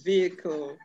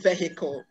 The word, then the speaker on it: vehicle: Which letter is silent in vehicle? Good. That's the glottal fricative. Are we together? Okay. It is not pronounced in that word. The word is vehicle and not vehicle. Do not call it vehicle.